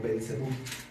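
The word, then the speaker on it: Belcebú: Bel por eso en el Nuevo Testamento se pronuncia como belsebu bal cebu sebu significa moscas y entonces hace alusión a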